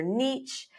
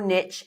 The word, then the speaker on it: niche: identifying your positioning identifying your Niche or Niche however you want to pronounce I like Niche it rhymes with pitch it's easy to remember